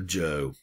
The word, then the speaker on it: Zhou: out of chinese and pronounce it like a j and so this is the joe dynasty the joe dynasty